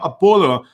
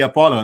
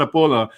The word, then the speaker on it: Apolo: my apologies i know i was like pronouncing your name apollo until i heard you you know say it and then like oh my god i should be apollo no not a polar but the reason you